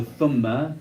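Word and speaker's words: ثُمَّ: Thumma, like, so the way it's pronounced is like the word theta in Arabic, right? Theta, people want to say theta. Theta, right? So you get the tha and theta. So thumma is with the tha and theta.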